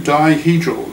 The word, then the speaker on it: dihedral: Di meaning 2, dihedral, like 2 sides, dihedral groups.